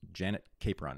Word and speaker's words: Janet Capron: called Blue Money, and her name is Janet Capron. Is that how you pronounce it? Yes.